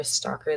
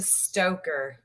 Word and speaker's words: Stocker: in justice for leroy stalker that is the group ran by alyssa ashley you said his name wrong again i do it's a stoker you know the very